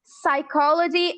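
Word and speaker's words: psychology: इसी तरह हमारे पास पी का रूल मौजूद है। व्हेनवर पी कम्स बिफोर एस और before N. सो वी डिड not pronounce P एस साइकोलॉजी and pneumonia.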